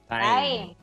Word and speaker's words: thyme: Time.